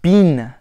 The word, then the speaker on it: been: The word bin, so B-E-E-N, is pronounced bean. So B-E-A-N, rather than bin or bin. So instead of B-I-N or B-E-N, it's bean.